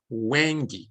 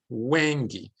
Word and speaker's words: Hwange: This is a great example of Hwange. That's how I pronounce it, Hwange National Park.